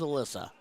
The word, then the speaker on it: Alyssa: Hoping it's Alyssa and not Elisa. Don't know what? Devin with the rooting on the mama. Stephen Lowe said you pronounced it correct. Yay, so it is Alyssa.